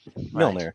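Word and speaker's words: Mjölnir: you pronounce that. Mjolnir.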